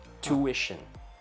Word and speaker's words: tuition: T-U-I-T-I-O-N, tuition. That one in Malaysia, we pronounce as tuition. T-Y-U-S-H-E-N, tuition. Like cushion, but with tu in front.